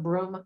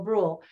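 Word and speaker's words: Brühl: Brule says I think did I call him broom earlier it's Daniel Brule it's spelled b-r-u-h-l but anyway he plays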